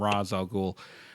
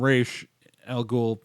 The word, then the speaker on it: Ra's al Ghul: pronounced in various media as Ra's al Ghul like you saw in Nolan's trilogy they refer calling him Ra's al Ghul on arrow when they first brought the character